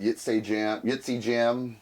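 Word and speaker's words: Ytsejam: I always call it Yitzy Jam, which is basically Majesty spelled backwards.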